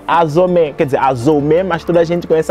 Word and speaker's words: Azomé: Azomia, porque meu nome é Azomé, quer dizer, Azomé, mas toda a gente conhece Azomé, Azomé, Azomé, ninguém pronuncia Azou, então eu coloquei nas minhas redes sociais de Azomé.